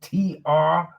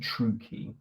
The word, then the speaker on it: Traucki: I think that's how you pronounce it. Traucki. So I'm saying Traucki.